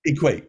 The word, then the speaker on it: EQAT: not saying it right equate equate we we enjoyed that you know that double meaning EarthQuaker action team eqat plus the word equate but well if people